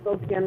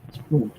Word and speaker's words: Spokane: i've only been to spokane once and that's when i flew out well we still see sport can or whatever you see spokane not spooked and all that stuff you know people mispronounce it but whatever um yeah